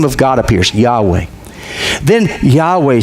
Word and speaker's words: Yahweh: We don't even know for sure how to pronounce it. These days, most people think it was Yahweh. 100 years ago, they said Jehovah.